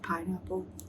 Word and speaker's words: Pinapel: First one I want to mention now is Pinapel & Friends- Let the record show that it's pronounced "Pineapple" because the characters are based on fruits and vegetables.